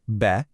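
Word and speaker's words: bê: A ton of these consonants share this really similar S sound ending. So, instead of trying to memorize them all randomly, just group them together in your mind. B becomes Be, C is Ce, D is De, P is Pe, T is Te, V is Ve, and Z is Ze.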